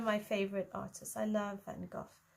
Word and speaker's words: Van Gogh: I love Van Gogh. I think he's pronounced Van Gogh in the States.